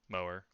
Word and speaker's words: Moher: all are familiar with the famous cliffs of mower i can't say i can think of melts off my head it's irish so i'm assuming that's how you say it but that's the english pronunciation yeah okay mower oh wow yeah it's literally just like that